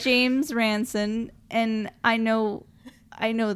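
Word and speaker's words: James Ransone: really stole our hearts jam ramco yeah and i keep saying his name wrong and i'm sorry if you're listening to this i know your name please i know your name is james ranson and i know i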